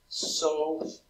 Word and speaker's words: SOHCAHTOA: you have heard of SOHCAHTOA. Say it with three different syllables, because that S-O-H stands for a very specific definition.